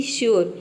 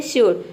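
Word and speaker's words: sure: श्योर में देख सकते हैं कि यू के बाद आर ई आया है, लेकिन यहाँ पे यू को हम प्रोनाउंस कर रहे हैं, इसका प्रोनाउंसिएशन बन रहा है श्योर, यानी कि यहाँ पे यू को हम यू प्रोनाउंस कर रहे हैं, योर, तभी इसका प्रोनाउंसिएशन आ रहा है यो का।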